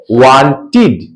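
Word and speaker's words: wanted: समझ ले ठीक बढ़िया से यदि किसी वर्ग के अंत में टी या डी हो और उस के साथ डी या ईडी जोड़कर उसे पास्ट टस बनाया जाए तो उस डी या ईडी का उच्चारण ड के समान होता है जैसे यहां पर डब् ए एनटी अंत में टी है ईडी जोड़कर पास्ट टस बनाते हैं तो हम लोग क्या पढ़ेंगे वांटेड वांटेड चाहा डब्लू ए आई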